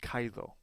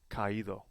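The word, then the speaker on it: caído: mark to the I without the aimark CED Kao would be pronounced Kao we need to help the weak vowel out in this situation which is the I and we need to help it out with an axom Mark so now it is pronounced properly kaido some other examples of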